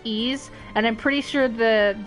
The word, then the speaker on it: Ys: Of Wise? Like the game series Wise? I'm pretty sure that's how you say it. Because, in Origins, they actually do say the name, and it's Ease.